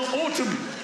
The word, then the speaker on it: autumn: Sometime in the autumn. In the autumn. Autumn. Yeah. So why is there an N at the end of autumn?